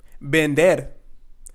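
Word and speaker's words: vender: the two e's and it's not Lear pero es Bender Vendetta means to sell bender and remember here the V sound or the B sound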